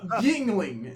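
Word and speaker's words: Yuengling: I called it Youngling, and I got in trouble because I was like, "That's not good. I don't want to go to a bar and ask for Youngling." So it's a Yingling.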